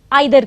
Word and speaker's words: either: से कर सकते हैं कुछ लोग ईदर कहते हैं कुछ लोग आइ दर कहते हैं चाहे वह इधर हो